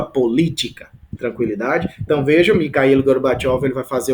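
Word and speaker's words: Gorbachev: Zinho chamado mikil gorbachov escreve assim mas a pronúncia gorbachov o que que gorbachov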